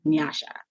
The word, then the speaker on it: Nyasha: So I decided to say Nyasha instead of Nyasha, which is how the correct pronunciation of my name.